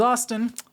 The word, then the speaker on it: Austin: Otherwise, my name is Austin, rhymes with Boston, and I will see you all in the next one.